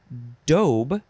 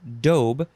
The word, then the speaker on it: daube: the next word is dobe with the long o dobe it is spelled d-a-u-b-e